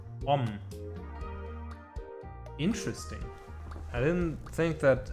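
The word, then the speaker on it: ą: block this path here you can pronounce this uh a with the hook as om interesting I didn't think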